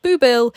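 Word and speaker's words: Boublil: today was the day I found out that booill is actually spelled b o u b l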